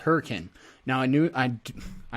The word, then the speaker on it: Hurricane: going to look at this area here called hurricane now i knew i i know it says hurricane but it's pronounced hurricane just so you know uh this is gonna